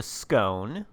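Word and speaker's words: Skåne: It's called the Skane, or at least that's as close to the original Swedish pronunciation of the word that I'm going to get.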